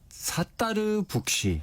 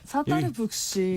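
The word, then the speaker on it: Sattar Buksh: 이제 가장 중요한 게 발음인데, 스타벅스하고 비슷하게 스타벅스 커피잖아요. 네. 여기는 사따르 북시. 사따르 북시. 이게 이제 영어 스펠링으로 말씀드리면 SATTAR. 그래서 사따르, 스타랑 좀 비슷하죠. 네.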